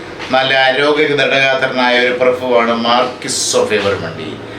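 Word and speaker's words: Marquis: ദി മാർക്കുസ്, ഇംഗ്ലീഷിൽ മാർക്യുസ് എന്ന് പറയും, ഫ്രഞ്ച് ഉച്ചാരണം മാർക്ക് എന്നേ ഉള്ളൂ. മാർക്ക് ഓഫ് എവറിമണ്ടി, അതാണ് മാർക്കുസ്. ഇംഗ്ലീഷിലെ പ്രൊണൗൺസിയേഷൻ മതി, ദി മാർക്യുസ് ഓഫ് എവറിമണ്ടി.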